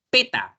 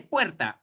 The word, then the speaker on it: puerta: No, hijito, no se dice peta, se dice puerta.